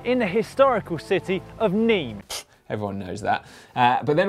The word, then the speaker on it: Nîmes: The Vuelta España kicked off on Saturday with a team time trial around Nîmes in France, or Nîmes, as I've been told it's pronounced in the comments section.